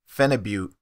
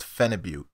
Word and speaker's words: Phenibut: Phenibut. This drug is pronounced Phenibut.